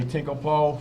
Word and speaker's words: Tinklepoe: Jay Tinklepoe, Superintendent of Solve. You got it. Right pronunciation.